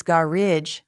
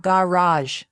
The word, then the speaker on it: garage: It's garage not garage.